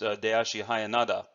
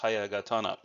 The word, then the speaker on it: Hayagatana: And some Danzanru practitioners may be looking at this and saying, isn't this pronounced Dayashi Hayanada? Well, that's the way it's traditionally said, but the correct way of saying this is Hayagatana.